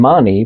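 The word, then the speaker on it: Máni: So s o l or sun and mani pronounced m a h ne e.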